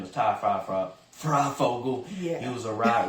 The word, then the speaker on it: Ty Fryfogle: That's a hard name to pronounce. His name is Ty Fryfogle.